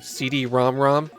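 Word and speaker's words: CD-ROM²: express my displeasure at the name CD romrom that's the pronunciation used in the original commercials so it's not like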